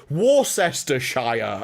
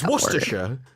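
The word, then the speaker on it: Worcestershire: No, it's worersha. It's really easy to say if you say it properly. Why is it a C? No C makes a sound. It's just the way it's just wor.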